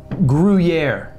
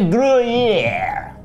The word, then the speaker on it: Gruyère: A Gruyère. Gruyère. All right. Well, no, you don't really pronounce the R. The Gruyère. You don't just skip it. You would just you go Gruyère.